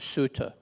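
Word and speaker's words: sutta: up the fact that you may have heard a a couple words in here that sound like they're being mispronounced and they're not and that is dhama and suta you know we often hear the words Dharma and Sutra which are the Sanskrit words but Buddha didn't speak Sanskrit Buddhist spoke a language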